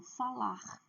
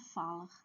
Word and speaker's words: falar: Então, falar, comer, pedir. Não é falar, não é comer, não é pedir. Ou pedir. Não. A última sílaba é forte.